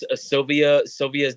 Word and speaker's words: Cilvia: Cilvia's demo?